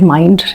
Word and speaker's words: Mynd: It's called Mind Inc. Spelled with a Y, M-Y-N-D, Mind.